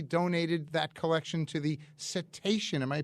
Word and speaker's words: Cetacean: His family donated that collection to the Cetacean, am I pronouncing it correctly?